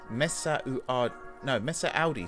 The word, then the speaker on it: Messaoudi: Oh, God, I always say his name wrong. Ayub Messaoudi. Messaoudi, sorry. That's why I keep saying it wrong. I'm adding an extra syllable.